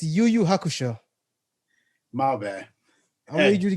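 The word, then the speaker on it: Yu Yu Hakusho: what did i say you say yo yo hakusho oh my bad it was it's yuyu hakusho maoba i need you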